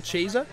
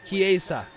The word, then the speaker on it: Chiesa: I want to hear how to pronounce his name. Michael Chiesa?